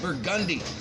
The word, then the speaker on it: Burgundy: A couple streets over, you go over to, it's spelled Burgundy, but everybody says Burgundy.